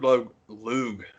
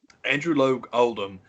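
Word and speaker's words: Andrew Loog Oldham: pardon me so andrew lo luge i say his name wrong all the time andrew logue oldham took a lot of their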